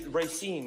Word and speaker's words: Racine: detective R most definitely it's Racine right Ry Ry okay I know how it's spelled I just don't know how rine is in Wisconsin